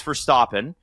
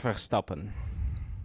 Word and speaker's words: Verstappen: in it right how do you actually pronounce it properly It's Max stopen.